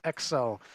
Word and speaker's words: XEL: It's spelled XEL, but it's pronounced Excel, like the Microsoft program.